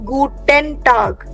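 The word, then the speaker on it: Guten Tag: so like you have to से गटन गटन don't say गुटन ट्राई टू से गूटन गटन टग सो द इ एन you have to kind of ईट up while speaking okay गटन टग गुटन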